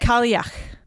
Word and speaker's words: Kalach: So, what is it? Kalach. Like yuck.